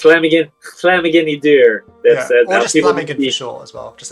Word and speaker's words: Llamhigyn: It sounds like you're saying slamming in the door, but like the new cheat code I found is to pronounce it THL. So okay. Yeah. Llamhigyn. Okay. Llamhigyn is not so bad.